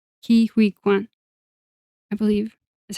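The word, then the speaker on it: Ke Huy Quan: found it right now Oh, sorry for my pronunciation. Ki uh Kiwi Kuan. Kiwi. I'm sorry that's so bad. It's It's K E space H u Y space Q U A N. Kiwi Kuan, I believe is how you pronounce it.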